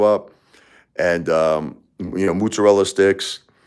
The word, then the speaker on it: mozzarella: The ma the the mozzarella all over the French fries. They hook you up and um you know mozzarella sticks. And that's how you say it in Brooklyn. Mozzarella. Not mozzarella. Mozzarella.